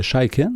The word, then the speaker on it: Chaiken: J'ai le plaisir d'accueillir mon invité, Laurie Chaikin. C'est bien ça comme ça qu'on le prononce, oui, c'est ça?